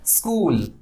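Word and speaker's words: school: इसे क्या प्रोनाउंस करना है? स्कूल। इतना प्रोनाउंस किया, एक सिलेबल बना, कूल, लंबा खींचा, ये इसे क्या लेते हैं? स्ट्रेस। अगर हम इसको बोलते स्कूल, स्कूल, तो कूल में हर्षुकार हो जाता, कुल हो जाता वो, और ये कूल बना जब दीर्घोकार लगा।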